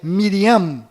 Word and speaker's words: Miriam: menos sofreram mudanças foram Maria, que na verdade é Miriam, com M mudo no final, Rei Davi, que na verdade é David, com D mudo no final, e Jacó, que na verdade é Yaakov, com V mudo no final e a letra Y no lugar do J.